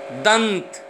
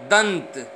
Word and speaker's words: दंत: दंत, दंत, इससे यहाँ बिंदु का अर्थ न में है, यानी कि पांचवा वर्ण न है।